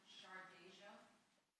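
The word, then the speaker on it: Shardajia: And so I believe it's pronounced Shardeja.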